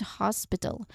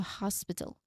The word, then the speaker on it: hospital: Pronunciation wise, here you make sure to pronounce the initial H softly. Okay? You do not totally drop it like it's not a silent letter but it's just soft. It's not very clear. So hospital. Hospital. Okay. And then it's not you know it's not heavily aspirated.